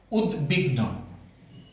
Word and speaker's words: উদ্বিগ্ন: উদ্বিগ্ন, উদ্বিগ্ন, এখানেও আমরা দেখতে পাচ্ছি যে বয়ের উচ্চারণটি অবিকৃত রয়েছে।